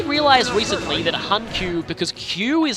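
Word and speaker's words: 弓: recently that HQ because Q is how Yumi is pronounced when it's just when it's in a compound it's an alternate reading of the character for Yumi so hanq is basically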